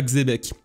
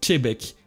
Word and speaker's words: Xebec: Xebec qui se prononce pas Xebec, qui se prononce Chebek.